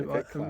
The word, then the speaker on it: Klaus: It's Okay. with a K, so Klaus.